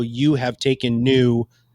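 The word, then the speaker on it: Nyo: how you have taken new which by the way is spelled n-y-o which i think is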